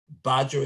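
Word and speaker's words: Badgr: And those include a credible Badger, spelled with the B-A-D-G-R.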